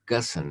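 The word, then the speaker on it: Ghosn: would you call him his name was carlos uh gusson had to pronounce because it spelled geo when ghos n or something anyway he was the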